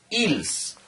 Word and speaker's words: else: Entonces utilizamos la palabra else, que se pronuncia ils, ¿ya? Ils.